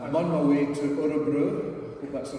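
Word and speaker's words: Örebro: event today um I'm on my way to orobro but that's the right pronunciation where I'm working with this Swedish chamber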